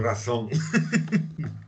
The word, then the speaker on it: raison: Raison, Il faut prononcer c'est espagnol. C'est raison, c'est comme ça. Oui, mais c'est parce que vous ne prononcez pas le Z. Il faut le prononcer.